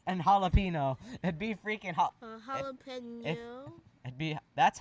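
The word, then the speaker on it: jalapeño: Enye, which is just which just makes a nya sound. Yeah. So that's where. So if Yeah. instead of the N and jalapeno, it'd be freaking Jalapeno.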